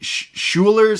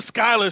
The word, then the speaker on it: Schuyler: And we meet I'm going to butcher the name already, the Schuler sisters. The Schuyler sisters. Schuyler sisters. Yeah, I knew it was that.